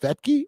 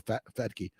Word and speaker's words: Fetke: But it is pronounced Fetke or Fetke.